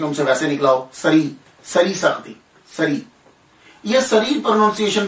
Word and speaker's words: سری: ہے وہ کیا ہے۔ تو دیکھیے کہ اگر ان کا نام سر الدین ہے تو پھر ایک پروننسیشن اور مشہور پروننسیشن جو ہے تلفظ جو ہے ان کے نام کا سری ہے، سر الدین سری۔ سر کہتے ہیں راز، سر